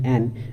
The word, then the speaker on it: Ayn: A contemporary version of egoism is found in the works of Ayn, usually pronounced Anne Rand.